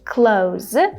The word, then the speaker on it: clothes: So here I said clothes, but you can also say clothes if you feel like you can make this the and then z sound. All you have to do is just bring your tongue back in as fast as possible.